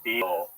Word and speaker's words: diesel: I mean, Diesel? my entire life. Diesel? Yeah, like a Z sound instead of an S.